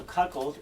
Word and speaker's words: cuckold: If thou canst cuckold him, so cuckold is how you say it, is cuckold, and this means a